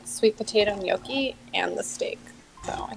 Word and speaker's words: gnocchi: I didn't say Yeah. the G. I said gnocchi. Gnocchi. It's like a y sound, not a sound. Like yonky. It's like N-Y.